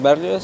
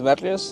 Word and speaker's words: Barrios: Barrios, se escribe, se escribe con E-S-D-R-A-S, Barrios es con B-A-R-R-I-O-S.